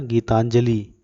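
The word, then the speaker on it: গীতাঞ্জলি: कविताओं का संग्रह तथा गीतांजलि निशान बांग्ला में उच्चारण था जिसका गीता जोली गीतांजलि बंगला में उच्चारण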